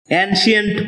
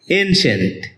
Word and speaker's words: ancient: এটাকে আমরা অ্যানশিয়েন্ট বলে থাকি, যার সঠিক উচ্চারণ হচ্ছে এনশিয়েন্ট।